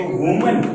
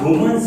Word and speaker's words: women: Pronunciation अलग हो जाएगा, इसको कहते हैं WOMAN वुमन। एंड जब इसका प्लूरल बनेगा तो इसका प्रोनाउंसिएशन यानी उच्चारण बोलने का तरीका क्या होगा, वीमन।